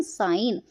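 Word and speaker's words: sign: इसे बोलेंगे हम एस आई जी एन साइन। तो इसमें जी साइलेंट है।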